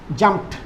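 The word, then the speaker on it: jumped: এই যে পিটা ওয়েস্ট, এই জন্য তার পরে ট উচ্চারণ হবে জাম্পড।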